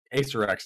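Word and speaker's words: Acererak: Ace Arak, yeah, that's the way you pronounce it too.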